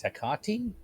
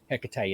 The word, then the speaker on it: Hecate: My preferred option is Hecate, but Hecate is very valid too.